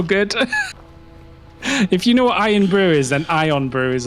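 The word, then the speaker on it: Irn-Bru: You know, like, so Iron Brew spelled like iron, IRN BREW is like a Scottish pop drink. fizzy drink, which is super popular. Oh. And it's orange colored like that, and that's called Ion Brew, and it's shaped like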